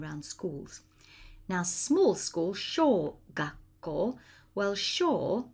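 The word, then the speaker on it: 小学校: That's called small school in Japanese, and it's pronounced sho gakko. Remember, you've got to pronounce that ko on the end, and that sounds just like an apple core.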